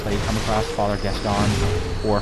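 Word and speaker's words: Gascoigne: you come across father guest on or father g i call him father g because guess gone is easy to pronounce a lot of people call him guest going um he's easy he's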